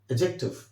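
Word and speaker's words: adjective: एडजेक्टिव, एडजेक्टिव में इस word में आपको डी को साइलेंट करना है।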